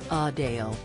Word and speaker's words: Adele: to her as Adele Adele actually prefers a faint Link at the end of her name to align with her North London accent as she noted with a slight emphasis on the second syllable a Dale the somewhat surprising confession